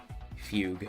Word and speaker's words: fugue: Fugue, that's how it's pronounced.